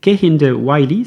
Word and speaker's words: Kehinde Wiley: si vous voulez le rechercher son nom c'est kind the wiy ça s'écrit k e h i n D E